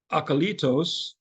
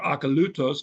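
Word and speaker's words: ἀκωλύτως: The word is akalitos, or akalutos, depending on which pronunciation you use.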